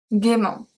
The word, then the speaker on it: gaiement: Another adverb we have gaiement.